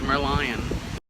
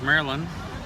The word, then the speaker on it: Merlion: to go see the merlion okay here at the merlion park and that I was saying it wrong as Marilyn millian anyway it's like a mermaid but its alliance so it's a Merlion anyway you'll see pictures